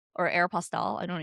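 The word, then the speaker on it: Aéropostale: It's Aerapostel.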